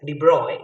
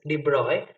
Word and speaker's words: de Broglie: in actual pronunciation de broglie is said as de bruyne because his name is pronounced as de bruyne so de broglie stated that uh we will